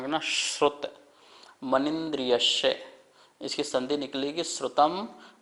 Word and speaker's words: श्रुत: श्रुत, ये शा और रा से मिलकर बनता है, इसका उच्चारण करना श्रुत मनिन्द्रियस्य।